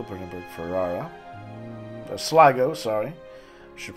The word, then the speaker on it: Sligo: Sligo, Brandenburg, Ferrara. Sligo, sorry. Should pronounce it correctly.